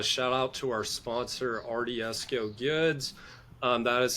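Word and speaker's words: Ardieso: I forgot to mention a shout out to our sponsor RDSO Goods. Um, that is spelled A R D I E S O.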